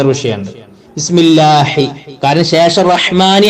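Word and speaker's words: الرحمن: പിന്നെ റഹ്മാനി, റഹ്മാനിന്റെ അവിടെ ശ്രദ്ധിക്കേണ്ടത് മ എന്ന് പറയാം. അറബിയിൽ മ എന്ന് പറയേണ്ടത് എങ്ങനെയാണ്? മേ എന്നല്ല, മ. എന്നാലും മാങ്ങ എന്നൊക്കെ പറഞ്ഞ ഒരു മ എന്നും ആവൂല, മ എന്നാണ് ഉച്ചാരണം. അപ്പൊ റഹ്മാനി.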